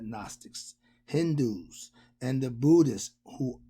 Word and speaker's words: Gnostics: They spell Gnostics. The G is silent, so you got Gnostics, Hindus, and the Buddhists, who all came long before the Jews and their Kabbalah.